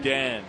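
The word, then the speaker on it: Oudin: Hey, congratulations to the young lady from Marietta, Melanie Udan. Is that how you say her name? Udan, yeah.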